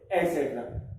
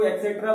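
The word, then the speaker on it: et cetera: बहुत से लोग इसको गलत बोलते हैं, इसको एक्सेट्रा बोलते हैं, तो वो EX स्पेलिंग लगा जाते हैं।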